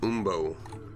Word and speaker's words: umbo: Pronounced Umbo. Alright, Barb, have a good night. Interesting. Umbo. That's fun to say, like wombat or pumpernickel.